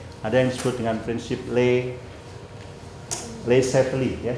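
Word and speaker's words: Le Chatelier: Ada yang disebut dengan prinsip Lay Lay Set ya. Jadi bacanya L setle ya.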